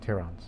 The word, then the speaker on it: Tyran: While we, blues, the Tyrans, that's what we're called, not to be confused with Tehran, Iran, but Tyrans. That's just how it's pronounced as far as spelling is concerned.